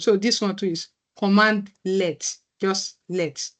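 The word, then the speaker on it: cmdlet: here is CMD let CMD let is full pronunciation is commandlet commandlet and it's a par command it's like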